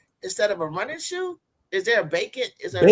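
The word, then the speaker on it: Bakin: instead of a running shoe is there a bacon is bacon bacon b a k i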